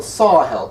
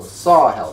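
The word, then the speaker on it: Sahel: Desert and those are called the sarhal countries which is spelled s a h e l SAR hell countries on the southern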